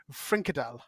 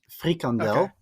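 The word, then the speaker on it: frikandel: talk thank goodness um my second question is fradel from hert it's it's it it's not pronounced that way but it's it's honestly it's that's way too funny it's just way too funny uh it's it's pronounced frandel but um that's basically just um um how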